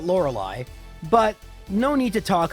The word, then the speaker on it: Lorelei: not liking my odds we start off with laura lee and you can tell i didn't play a lot of pokemon stadium one because even pokemon stadium one pronounces it lorelei but no need to